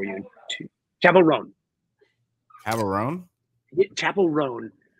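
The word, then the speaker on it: Chappell Roan: chavel Ron chav rone Chapel rone yes which we always want to say Chappelle rone yeah yeah Dave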